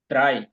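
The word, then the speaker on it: drei: জেড এর উচ্চারণ হলো সেট ভাইয়া থ্রি এটার উচ্চারণ কি হবে ড্রাই ড্রাই হুম হবে ড্রাই আপনি একবার একটু ভাই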